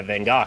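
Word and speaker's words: Van Gogh: I mean I saw a star KN by Van go and it was just like there for you to walk up to this guy pronounces van properly AR flash is supposed to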